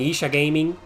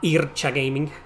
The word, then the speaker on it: Isa Gaming: best aell games featuring Isa gaming it's pronounced Isa gaming not Ira gaming most hated jerp ever